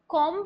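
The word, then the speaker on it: comb: क्या बोलते कम कम लेकिन यहां पर बच्चे य जो आपकी बी की जो साउंड है ना यह साइलेंट हो जाएगी आप इसको कम ना बोलके आप इसको बोलेंगे कम कम जैसे कि हम बोलते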